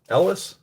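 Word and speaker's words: Elwes: carrie a carrie el carrie uh ellis is how you say his name played robin hood and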